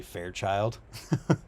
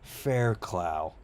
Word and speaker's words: Fairclough: John at the Trails calls him Fairchild. Fairchild. is my favorite one. His last name It's so good. Fairclough.